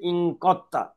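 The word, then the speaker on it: انقدتَ: গঠিত হয়েছে ইনকত্তা আর এখানে দাল এবং তা এর একই মাখরাজ হওয়ার কারণে দালটা লেখা আসবে কিন্তু উচ্চারণে আসবে না এজন্য তা টাকে তাসদিদ করে কফ যে সরাসরি তাকে ধরে উচ্চারণ করতে হবে ইনকাত্তা ইনকাত্তা তুমি একজন পুরুষ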